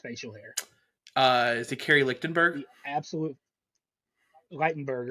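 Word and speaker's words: Ligtenberg: Is it Kerry Lichtenberg? The absolute Lightenberger. Lightenberg.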